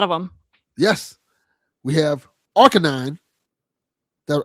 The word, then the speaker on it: Arcanine: We have Arcanine.